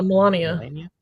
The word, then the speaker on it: Melania: Yeah, Melania.